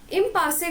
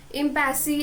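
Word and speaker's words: impasse: इम्पासे का मतलब ही क्या होता है, डेड एंड. इसका प्रोनाउंसिएशन इम्पैसी ऐसा कुछ नहीं है, इट्स इम्पासे, राइट.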